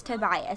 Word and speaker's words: Tobias: oh my gosh y'all let me check real quick because I know I'd only people coming at me like you're not saying it right okay apparently it's Tobias so I think I was right but this is too